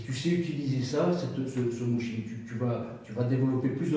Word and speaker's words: mushin: Pour des sports de combat, le mushin japonais, ça s'écrit M-U-S-H-I-N, mushin.